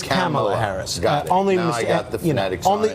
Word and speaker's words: Kamala Harris: Kamala Harris here's how the name is actually pronounced not or well it is Camilla Harris is not come on Harris pants its Kamala Harris only uh you know only only one we